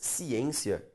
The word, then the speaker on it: ciência: Questão 1, fala assim, o emprego do acento gráfico nas palavras ciência e transitório justifica-se com base na mesma regra de acentuação. Vamos separar a palavra ciência. Ciência. A sílaba tônica, perceba, é a penúltima.